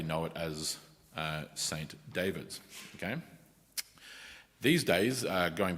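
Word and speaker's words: Dyfed: left corner uh the region uh which is pronounced David, d y f d in the bottom left corner.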